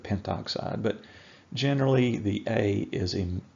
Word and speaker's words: pentoxide: prefixes from mathematics classes you do omit a syllable here and there sometimes I'm sure that we're not going to count that wrong if you accidentally add in an A and call it Penta oxide instead of pentoxide but generally the a